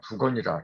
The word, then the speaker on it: 복건: 또 보자기, 무언가 이렇게 물건을 덮는 보자기를 말할 때는 복건이 아니라 부건이라 그래요.